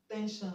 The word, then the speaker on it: tension: Option B, we have tension, tension. Okay. The letter that is before SLN is a consonant letter. Okay, so the S will be pronounced sh, sh and not j.